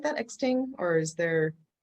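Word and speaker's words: X-Ting: say it like that exting or is there how is it spelled x-t-i-n-g yeah sting you know just like treat the x a little bit like a click you know okay that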